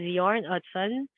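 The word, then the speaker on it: Jørn Utzon: the story about the Sydney Opera House About Yarn otson the architect it's not spelled as yarn it's spelled as Jordan it's pronounced as yarn Hudson uh do you know that this was uh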